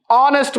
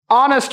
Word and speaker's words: honest: an elephant a an honest man H is silent an honest man a an honest